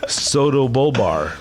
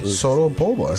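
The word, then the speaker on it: pseudobulbar: You could call it PBA, but it was actually called this Soto-bulbar. Soto-bulbar. Pronounce that Rene for me. Soto-bulbar. Soto-bulbar condition. Almost or sounds like Bulbasaur from Pokemon.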